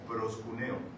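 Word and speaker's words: προσκυνέω: Ya lo he mencionado antes, es una palabra en el Nuevo Testamento en griego que se pronuncia proskuneo, y es la misma palabra o el mismo vocablo que se utiliza para los perritos que se inclinan y lamen nuestros pies.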